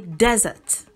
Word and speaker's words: desert: D-E-S-E-R-T, you can say desert, which is a hot, arid region. And you can say desert, which is to leave.